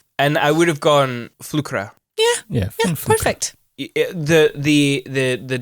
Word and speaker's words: Flükra: It would actually be pronounced Flkra.